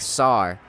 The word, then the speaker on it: tsar: Like SAR in Russia, TSAR. It's pronounced SAR.